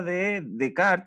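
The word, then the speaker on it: Descartes: pregunta después explica en qué sentido la ayuda de cart se pronuncia bello desde ese filósofo ya en qué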